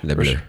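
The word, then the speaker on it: Les Bleus: That's how you pronounce it? Yeah, that's correct. Le Bleu.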